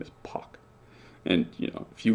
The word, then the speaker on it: Park: well in a lot of dialects of english p-a-r-k is pronounced poc and this is so much the